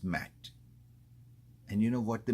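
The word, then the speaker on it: מת: And a Mem and Tau is pronounced Mat.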